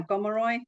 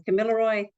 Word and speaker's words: Gomeroi: So I'm from the uh Gomeroy. You may have heard it pronounced also as Camilaroy people um in northwest New South Wales.